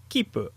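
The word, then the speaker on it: きっぷ: Here is an example of the word for ticket with a double P sound: kipu.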